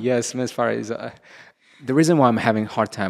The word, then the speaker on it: Parizoda: Parizoda. Yes, Miss Parizoda. The reason why I'm having a hard time pronouncing her name is because usually she goes by the name Ada Rachel.